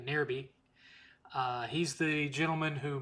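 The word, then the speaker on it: Nairby: By the way, uh, friend of the channel, uh, Nerby, I'm assuming that's how it's pronounced. N A I R B Y. Nerby.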